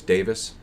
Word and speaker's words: Davies: We should, I recently discovered, apparently it's Davis, by the way. Really? Apparently it's Ray Davis. That's how that's pronounced.